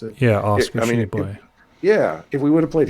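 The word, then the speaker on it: Tshiebwe: Shibwe? Is that how you pronounce it? Yeah, Oscar Shibwe.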